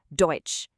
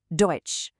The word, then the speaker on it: Deutsch: Deutsch. This means German. Let's say it together. Deutsch.